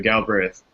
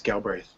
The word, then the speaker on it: Galbraith: Galbraith. Did I pronounce it right, Patrick? That is correct. Yes, Galbraith.